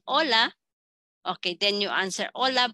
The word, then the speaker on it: hola: be Ola is spelled as hola but we pronounce in Spanish hola that's why que Dia is foreign it's just